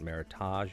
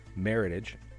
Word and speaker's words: Meritage: is really good and that is not Meritage if you say Meritage I will beat you to death with the empty bottle Meritage rhymes with heritage a nice red blend